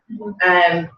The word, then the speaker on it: Seamus: Seamus?